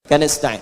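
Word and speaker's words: نستعين: Iyaka na'budu wa iyaka nastain. Nastain ujungnya sukun. Kalau dimatikan dibaca ujungnya pasti mati.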